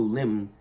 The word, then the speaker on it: limn: This limb ends with a silent N.